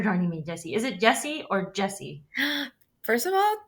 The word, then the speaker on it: Yesi: Yesi with a So, Y. yeah, I know it's pronounced sometimes in Mexico like Jesse, but my mom wanted to make sure I was pronounced Yesi.